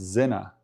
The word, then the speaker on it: Sinner: Yeah, sinner is actually pronounced zena. And with the German, of course, zena with a Z.